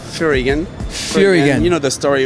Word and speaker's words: Furygan: But Furygan is the way you pronounce in France. But here, on the GP and international, Furygan, yeah.